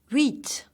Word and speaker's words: huit: Huit. So huit, never pronounce the H in French.